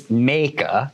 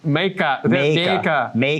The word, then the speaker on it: Mijke: It's Meka. Meka. Meka is a feminine Dutch name. See, I did not know that. That's what it is. Yeah. So that's good. I say Mike, but okay, Meka.